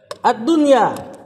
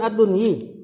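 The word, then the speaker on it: الدنيا: Ad-dunya. Mudhafun ilaih. Bukan ad-dunyi.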